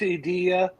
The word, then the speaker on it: Edilla: Well, it's Edilla, but you can say Edilla.